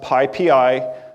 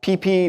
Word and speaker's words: PyPI: It is pronounced PyPI, not PP, not Pippy, not PyPy.